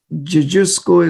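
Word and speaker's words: Dziadziuszko: And the oncologist in Poland, his name is Dr. Gadgeel. So it is spelled DZIAD again, ZIUSZKO. Gadgeel is how we call him.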